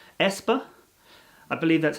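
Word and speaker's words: aespa: there's also a k-pop band called espa i believe that's how they pronounce it so here the ash symbol is pronounced e the ash symbol is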